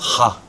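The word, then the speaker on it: ห้า: write hahaha with five cuz five is pronounced ha.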